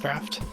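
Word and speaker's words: draught: draft Dr draft uh it's pronounced draft draft restores a small amount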